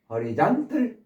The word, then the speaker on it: horizontal: 요 단어가 주로 쓰이니까 appendix에서 부록, 부가물 또는 맹장, 촉수, 돌기, horizontal 수평, horizon 이로 발음하셔야 돼요.